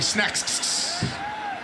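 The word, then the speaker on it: Snaxx: I have been mispronouncing it. Snacks, it's actually Snacks.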